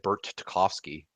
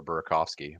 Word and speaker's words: Burakovsky: believe the other night he said Bert Tarkovsky for Burakovsky.